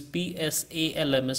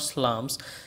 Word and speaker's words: psalms: how to pronounce them it is p s a l m s it's not slams it is but psalms and hymns hymns means